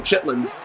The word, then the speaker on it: chitterlings: Bro, chitlins, as they call it, but it's spelled chitterlings.